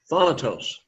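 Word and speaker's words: θάνατος: Thanatos. Thanatos. The emphasis is upon that first syllable, thanatos.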